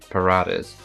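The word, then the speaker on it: paratha: I'm rolling an R. R. R. Parota. Parota. Parota. And then in the American accent, it's paradas.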